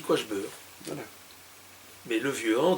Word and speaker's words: Quaghebeur: La prononciation est très curieuse. Mais à Tournai comme à Lille, on dit Quachbeur.